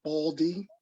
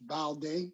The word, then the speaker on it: Balde: Some of us pronounce it Baldy, but it's really pronounced Balde, B-A-L-D-E.